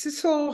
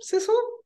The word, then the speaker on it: Sidsel: you do please yes my name is Cecil harder it rhymes with whistle Sizzle and um I'm basically